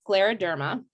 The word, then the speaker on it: scleroderma: a little difficult to pronounce but it's it's pronounced Scleroderma and and it's it's spelled s c l